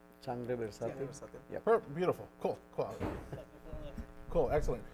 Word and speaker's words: Sangre Versátil: locally, and correct me if I say the name wrong. It's Sangre Versatil. Sangre Versátil.